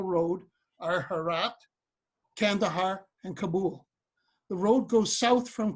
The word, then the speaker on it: Kabul: but you don't know the way they pronounced it in Afghanistan is Kabul okay the road to